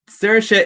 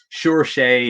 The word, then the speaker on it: Saoirse: your name i i zersha is for us in ireland it's it's the easiest name in the world to pronounce do you get that i suppose search around and god didn't she got sure shea and stuff like that do